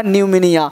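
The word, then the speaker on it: pneumonia: देखो क्या लिखा है, पी निमोनिया। अब पी निमोनिया नहीं पढ़ना है, इसे पढ़ना न्यूमोनिया, यानी पी क्या हो गया, साइलेंट हो गया। पी क्या हो गया, साइलेंट हो गया, है ना।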